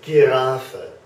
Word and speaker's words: Giraffe: So even the German word for giraffe, which is spelled very similarly, okay, is giraffe, g, giraffe. It's always a g sound, okay?